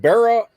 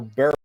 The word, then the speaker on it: Barrow: Bonnie and Clyde Barrow. I always, is it Barrow or Barrel? Oh, no, it's not. No, L. it's Barrow.